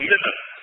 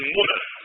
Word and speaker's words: Muna: He cannot pray in his ihram when he's at the Kaaba or Muzdalifah or in Muna, commonly called Mina, correct pronunciation Muna.